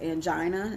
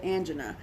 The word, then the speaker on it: angina: it different ways, but I was always pronounce it as angina, and I don't know if that's because I'm country is all outdoors or what, but some people say angina, but for chest pains.